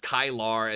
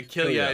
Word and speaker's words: Killia: like Kylar, and then I've heard Kyle J is how some people say it. Okay. But yeah, Killia is how how I've been told it's pronounced.